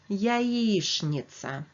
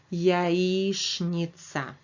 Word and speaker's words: яичница: Russian it will be яичница. Please remember that letters ch and n in the middle of the word are pronounced as shn. So that's why I'm saying яичница.